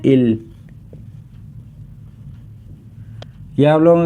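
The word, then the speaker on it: 일: इसे हम सीनो Korean number में कहते हैं इल यह आप लोगों के सामने टू लिखा हुआ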